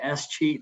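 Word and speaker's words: escheat: and in texas we don't have any any s cheat laws it's spelled e-s-c-h-e-a-t in many states if we can't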